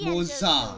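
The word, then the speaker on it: Moze: Oh, it's pronounced Moza.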